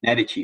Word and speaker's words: Medici: The Medici family, sorry, as I should say it properly.